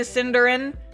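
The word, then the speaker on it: Cynder: It's spelled with like C Y N D E R A N cuz it's supposed to be like Cinder like like Ash and Cinders but with a Y instead of an I.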